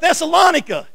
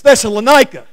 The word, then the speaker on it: Thessalonica: That's not how you pronounce that word. It's Thessalonica.